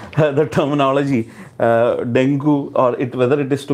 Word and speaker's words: dengue: So if you see the layman term, most of them call dengue because the spelling is such that we pronounce it such a way. But if you see the actual pronunciation, it's dengue.